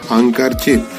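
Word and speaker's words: handkerchief: अब हम इसको इकट्ठा जब पढ़ेंगे तो यहाँ पर डी का साइलेंट हो जाएगा, तो हम यहाँ डी नहीं पढ़ेंगे। इसको हम कैसे पढ़ेंगे? हैंकरचिप।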